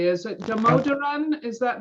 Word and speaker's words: Damodaran: i was pronouncing your name correctly is it damodaran is that how you would pronounce your last name that's correct okay terrific